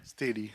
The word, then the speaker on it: Steli: Next, I'm going to call up, well, he's already here, is it pronounced Steli? Steli.